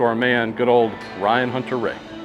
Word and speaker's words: Hunter-Reay: man good old Ryan Hunter Ray Paulo for the Brazilian Grand Prix since in Portuguese yeah the letter R is pronounced as an H yeah I loved hearing